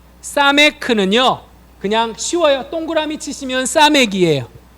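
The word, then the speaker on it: סמך: 자, 사메크는요, 그냥 쉬워요. 동그라미 치시면 사맥이에요. 네, 동그라미 치시면 사맥. 발음은 시옷 발음, 사메크. 좀 강한 시옷, 사맥.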